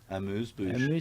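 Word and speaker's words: amuse-bouche: Amuse bouche.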